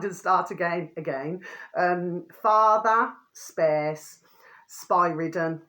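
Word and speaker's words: Spyridon: Father space spy-ridden, okay, spy-ridden, which is spelled SPYRRDON.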